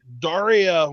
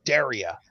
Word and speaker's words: Daria: She's very picky about how people pronounce her name. Daria was the MTV cartoon character. It's Daria. You know what?